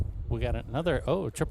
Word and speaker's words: Geaux: So we got a got a few special guest today.